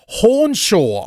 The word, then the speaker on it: Hornshaw: Hornshaw on the line. Did I pronounce that right?